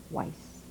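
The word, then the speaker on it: Weisz: at the moment i was born weiss how do you spell that is why is this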